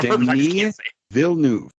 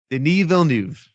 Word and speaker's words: Denis Villeneuve: Well, you know, Denis Villeneuve. Denis Villeneuve.